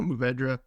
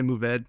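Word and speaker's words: Mourvèdre: Yeah, no, Mourvedre. Some people say Mourvedre. If you get real French about it, it's like Mourvedre.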